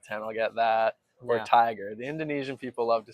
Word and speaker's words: Tyker: So, your name is pronounced Tiger. Yeah, man. You got it. Tiger. I thought honestly I thought it was Tyler this whole time and um I didn't mention your name today.